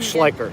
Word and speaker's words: Schliker: on the Schl how do you say your name? Schlikker.